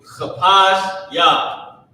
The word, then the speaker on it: Chapash Yah: So chapash Yah with the cha that's a little bit harder to pronounce. So cha pa and the character sha connected, right? Chapash and then Yah at the end.